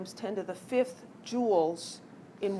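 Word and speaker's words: joule: SI unit is the jewel I know it's spelled a little weird but it's Jewel um the abbreviation is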